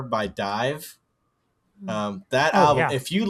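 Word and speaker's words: DIIV: Dive, if you're if you're listening, Dive is D I I V. That's how it's spelled.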